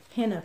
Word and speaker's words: henna: Some people pronounce it henna, but it's henna, H-E-N-N-A, as you can see on the box.